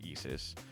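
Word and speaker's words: ISʘIS: circle in the middle in is but it's pronounced Eis it stands for the Integrated Science investigation of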